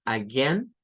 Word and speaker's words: again: sino que es pero el diptongo ahí en esta palabra puede sonar como como Again o puede sonar como again como Hey a game A quién a quién again son dos formas de pronunciarla y las dos son correctas y les diría se